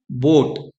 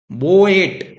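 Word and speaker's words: boat: है जो अपनी पावर ओ को दे रहा है और ए अपनी पावर को छोड़ दे रहा है ऐसे समझिए आप तो यहां पर क्या होगा बोट बोएट ऐसा नहीं होगा ठीक है यह प्रोनाउंस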